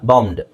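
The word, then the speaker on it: bombed: ಇಲ್ಲ, ಬಾಂಬ್ಡ್. ಇಲ್ಲಿ ಎಷ್ಟು ಅಕ್ಷರ ಸೈಲೆಂಟ್ ಆಗುತ್ತೆ ನಿಮ್ಮ ಪ್ರಕಾರ? B ಅಂಡ್ E ಎರಡು ಸೈಲೆಂಟ್ ಆಗುತ್ತೆ. B ಯಾಕೆ? BOMB ಬಾಂಬ್ ಅಂತ ಬಂದ್ರೆ ಬಾಂಬ್, B ಹೇಳಲ್ಲ ನಾವು, ಬಾಂಬ್ಡ್.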